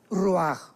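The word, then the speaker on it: רוח: espiritual que es la palabra roach, que se pronuncia roaj.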